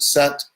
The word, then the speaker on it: sat: And if you're interested in historical linguistics, the S in the word Sat is the same S in the English word is.